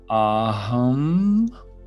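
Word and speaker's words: AUM: The tone of Om is actually pronounced Aham, so A-U-M.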